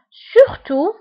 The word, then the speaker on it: surtout: Surtout, surtout, surtout, surtout quand tu vois بالت في آخر الكلمة ولكن لا تنطق.